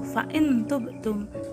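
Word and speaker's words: فإن تبتم: Maka huruf nun sukunnya dibaca samar atau dengung. Bukan dibaca fa'in tubtum atau fa'in tubtum. Dibacanya fa'in tubtum begitu.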